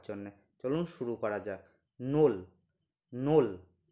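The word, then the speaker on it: ноль: সবার প্রথমে পাওয়ার জন্য চলুন শুরু করা যাক নোল নোল উচ্চারণটা হচ্ছে নোল মানে জিরো উচ্চারণ হচ্ছে নোল নোল মানে জিরো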